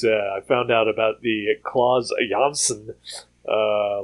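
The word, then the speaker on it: Klaus Janson: fun yeah uh oh the one comic Creator name who I'm guessing 99% of everybody has uh pronouncing it incorrectly for his entire career uh is um um now I can't think of his name oh no oh that is a really wrong way to pronounce somebody's name oh uh Claus yanson re oh wow okay yep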